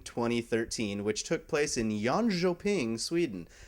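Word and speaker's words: Jönköping: in Yono ping Sweden I definitely spent a hot minute learning how to pronounce that one because an uninformed PC Gamer uh might call it John coping uh but yaning yeah K's are Jay's and Jay's are y's in SW Sweden which is awesome uh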